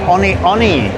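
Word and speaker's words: One One: Like the Hoka Oni Oni, which if you see it is 1 1.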